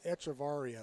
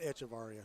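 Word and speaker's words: Echevarria: me with our anglo-tony echevaria it's not echevario you got it yeah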